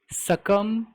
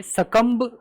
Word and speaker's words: succumb: देखिए गाइस, तो ये है हमारा वर्ड सकम टू। सकम कहा जाता है, ये बी साइलेंट ही है, सकम्ब लोग नहीं कहते, सकम टू, सकम टू।